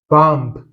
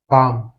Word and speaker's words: bomb: Pour ces mots, le B n'est pas prononcé. Donc, ce mot, ce n'est pas bomb, c'est tout simplement bomb.